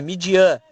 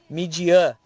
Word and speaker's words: Midian: fala o nome, é Midian, Midian Lima, né? Então tem uma pronúncia mais, a fonética maior tá no an, né? Midian, né?